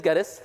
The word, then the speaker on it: Geddes: going back again so my name is Geddes it rhymes with lettuce one thang EJ is